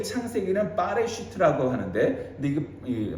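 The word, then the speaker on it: בראשית: 원래 이 창세기는 빠레슈트라고 하는데, 근데 이게 뭐 바레슈트, 빼레슈트 뭐 이렇게 발음을 하는데, 원래 이건 바라라는 이 단어에서 출발합니다.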